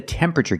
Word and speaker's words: temperature: This is the temperature gauge. Pronunciation, tempera. Not temperature, but temperature. The TU makes a ch sound like chicken. Temperature. Remember, it's three syllables. Temperature. Not temperature, not four syllables, but three. Temperature.